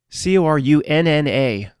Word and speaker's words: Corunna: Corunna, pronounced just like the same thing, Ontario.